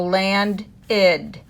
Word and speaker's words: landed: When the word ends in a D, the ED makes id.